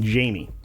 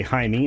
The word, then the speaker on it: Jaime: his first name properly calling him Jamie well that seems to be a running Trope in this particular one which I can tell you right now is well completely false in today's world everybody knows how to say hi me and everybody knows how